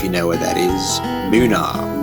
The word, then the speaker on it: Boonah: Boonah, BOOH-NAH, how the locals pronounce it.